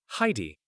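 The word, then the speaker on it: Hi!-D: name marcus mused thanks you pronounce it like heidi what time is it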